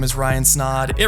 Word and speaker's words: Snaadt: what's going on everybody my name is Ryan snod it rhymes of OD and you're listening and watching